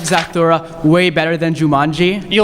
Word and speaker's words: Zathura: I heard that, I always forget how to pronounce it. How do you say that in the space one? Zathura.